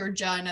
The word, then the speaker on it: Regina: partner will be like, it's actually Regina, and then they'll start laughing. They're like, your city rhymes with a lady part.